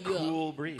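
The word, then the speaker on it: Kewl Breeze: and it's spelled K-E-W-L, yeah, but it's Cool Breeze.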